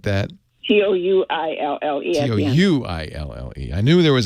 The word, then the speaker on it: Ratatouille: If you can remember how to spell it. I studied French. Ratatouille or something like that. Touille.